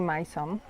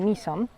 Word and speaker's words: Mỹ Sơn: Większość świątyń w obiekcie My Son, nie My Son, tylko jak się dowiedziałam, My Son, to się wymawia, znajduje się, jak spojrzycie sobie na mapę, to w regionie B, C i D.